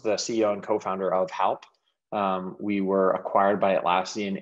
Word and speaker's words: Halp: Do I pronounce it correctly? Was it Halp or Help? Halp.